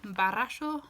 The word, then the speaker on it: barasho: One very common phrase that we use today is barasho wanagsin. So it's B-A-R-R-A-S-H-O. So barasho has a double R. Again, you're going to try to roll your R's there.